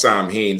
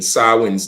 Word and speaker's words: Samhain: tradition of sin or Sam ha um mispronounced Sam ha sawi's day which today is